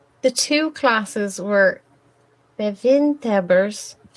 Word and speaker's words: bewindhebbers: Please excuse my Dutch pronunciation. The two classes were bevindhebbers.